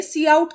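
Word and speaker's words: cout: से line five में सी आउट का यूज़ हो रहा है इसको प्रोनाउंस हम क्या करते हैं सी आउट ये एक ऑब्जेक्ट होता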